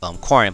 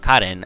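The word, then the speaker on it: Karin: And you can see Cotton, or some of you guys may know as Corin, but Cotton, as for the official translations or official Japanese pronunciation of this character right there.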